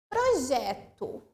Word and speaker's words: projeto: Projeto. Pro-je-to. O que eu pronunciei com mais tonicidade? Gé.